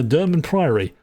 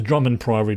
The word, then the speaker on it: Durmand Priory: So we are now off to the uh Dur priaryy. And I remember to say it correctly this time, not the Drummond Priy like I've been saying to myself for years.